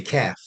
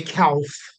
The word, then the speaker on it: calf: because you don't pronounce the L you just say calf you don't say calf I can't explain this